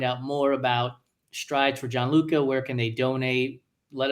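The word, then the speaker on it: Gianluca: I mean, so it's it's uh strides for the number four uh John Luca and it's it's spelled the Italian way, which is g i an luca.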